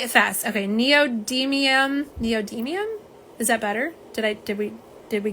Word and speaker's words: neodymium: Neodymium.